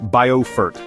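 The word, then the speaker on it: Beaufort: Our journey begins in Bilfort, South Carolina. Pronounced Boffort, a coastal jewel nestled between winding rivers and the Atlantic, where the gentle sea breeze carries stories of centuries past.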